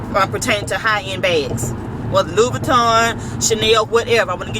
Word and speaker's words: Louis Vuitton: word in a minute, but make sure you're pronouncing it correctly. It's not Louis Vuitton, it's Louis Vuitton. Louis Vuitton.